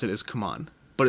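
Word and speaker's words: CMON: gone back and forth i believe the official pronunciation is come on but i have heard some of their own people on videos still saying simon so either way you're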